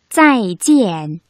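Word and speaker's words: 再见: 두 번째 음절을 찌엔이라고 일성으로 발음하면 안 되겠죠. 물론 중국인들이 대충 알아들을 수는 있겠지만 그래도 정확한 발음은 찌엔, 사성입니다.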